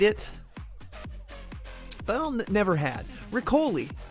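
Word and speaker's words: riccioli: But I'll never had riccoli. Rhymes with spicoli.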